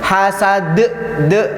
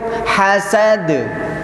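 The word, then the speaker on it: حسد: Hasad, de, tidak boleh de. Sampai cukup hasad, hasad. Ya, kita tidak membaca hasad de. Kita tidak membaca de, tapi cara mematikannya seperti itu. Hasad.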